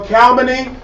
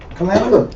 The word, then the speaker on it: calumny: For calumny deludes men. Let's look up calumny. Calamity?